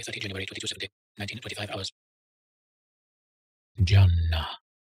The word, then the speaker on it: Jannah: Jannah. Pronounce the N double.